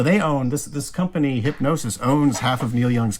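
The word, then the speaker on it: Hipgnosis: a company called hypnosis it's spelled like the you know the people that designed the pink field yeah yeah that's what i thought it's spelled just like that but it's called it's called like the hypnosis fund music fund so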